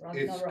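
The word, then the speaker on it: Ragnarök: It's Ragnarok.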